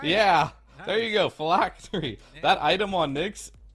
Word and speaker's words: Phylactery: And you can buy the new item, I'm not even going to pronounce it, what is it, Phylactery? You did it right. Yeah, nice. There you go, Phylactery.